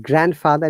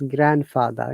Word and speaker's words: grandfather: Similarly, not grandfather, it's grandfather.